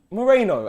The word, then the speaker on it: Moreno: It's Moreno. I had to think about it. I'm never leaving this place. This is it. This is the ceiling for me, isn't it? No one's gonna blow me up. Moreno.